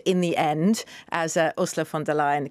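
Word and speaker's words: von der Leyen: for new beginnings in the end as ursula fond de la in the correct pronunciation um uh said i think you know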